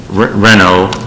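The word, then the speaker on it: Renaud: that's signed bill uh renault which is r-e-n-a-u-d but it's r-e-n-o properties confuses the heck out of me when it comes to the french pronunciation so i'm very comfortable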